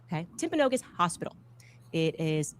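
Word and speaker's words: Timpanogos: Um I'm told actually it's pronounced Temponogus. Okay. Temponogus hospital.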